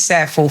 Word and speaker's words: Sappho: Hi, my name is Safo, CEO and Director of Women Beyond Borders, women spelled with an X.